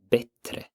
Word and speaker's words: bättre: So to say better, you would say bättre. Bättre. Similar to better, but slightly different.